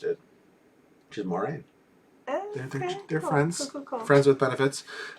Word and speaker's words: Moiraine: should have been and again i heard it pronounced both ways maureen and warren no i'm gonna go with my